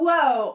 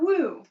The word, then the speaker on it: WO: of my favorite products, Wow Whoa or Wow Woo. So, this is Woo Oil or Whoa Oil, depending on your pronunciation.